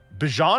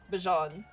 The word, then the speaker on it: Bajan: My Bijan or Bijan? Bajan. Okay. Bajan.